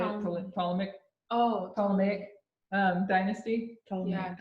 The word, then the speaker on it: Ptolemaic: Ptolemaic dynasty. Yeah, Ptolemaic.